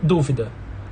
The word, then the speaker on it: dúvida: no infinitivo são assim e dúvida é proparoxítona então na palavra duvidar